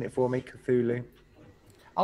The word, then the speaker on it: Cthulhu: was on there yeah thank you everyone for pronouncing it for me cthulhu i like the look of it i like